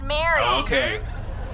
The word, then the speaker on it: Marie: It's actually spelled Marie, pronounced Mary.